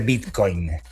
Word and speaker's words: Bitcoin: Eh porque le hace el acento en la O, Bitcoin, en modo Conmebol, eh como le dice Rodolfo D'Onofrio a la a la Conmebol, acentuando de manera distinta.